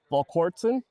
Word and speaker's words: Volquartsen: it it is but what what we say is V vson volon so just like a quartz crystal you know when I